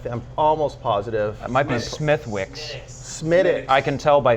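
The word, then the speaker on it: Smithwick's: Wicks I I I'm almost positive might be Smithwick SMI I can tell by the H that's how it's pronounced smiix yeah smiix yeah I was way off not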